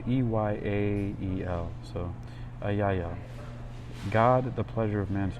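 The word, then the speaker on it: Eyael: Ayayel. It's spelled E-Y-A-E-L. So Ayayel.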